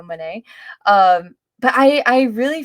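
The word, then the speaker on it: Moné: route with Mercedes Mane I need to pronounce it correctly because it's money you know Mane um but I I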